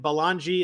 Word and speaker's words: Belongia: is at uh ryan balangi that's b-e-l-o-n-g-i-a i know it doesn't spell sound like it spells but that's how it's spelled um i am